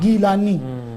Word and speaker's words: Gilani: Actually, the Jilani is the Arabic pronunciation. Acha. The Arabic alphabets does not include Gaf. Huh. Whereas the Persian, the Farsi, they use the letter Gaf, Gaf. Gilani. So both ways, right?